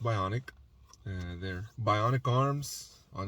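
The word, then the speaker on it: Byonek: by on Nick uh but you know it's pronounced bionic uh they're bionic arms on Instagram uh check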